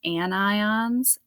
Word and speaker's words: anion: differently but they are in fact pronounced anions and ion anions and Cat ions cations so a negative ion